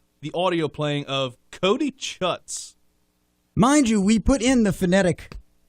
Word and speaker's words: Chutz: We have the audio playing of Cody Chutz. Mind you, we put in the phonetic pronunciation of the word in the copy. I don't believe that. I did SHOOTZ. That is shoots.